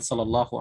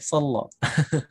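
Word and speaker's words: صلى الله: Hati-hati, terkadang di sini dibacanya o ya, sallo. Padahal huruf lam dibaca fathah di sini ya, sallallah.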